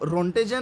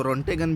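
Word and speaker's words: Röntgen: कई जगह पर काफ़ी प्रोनाउंसिएशन में इसको रोंटेगन भी बोलते हैं, काफ़ी प्रोनाउंसिएशन में इसको रोंटेजन भी बोलते हैं, तो जो आपको ठीक लगे, कन्वीनियंट लगे, रोंटेगन ठीक लग रहा है तो रोंटेगन बोल सकते हैं आप।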